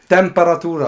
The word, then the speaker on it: Temperatura: The correct pronunciation? Say it again. Temperatura.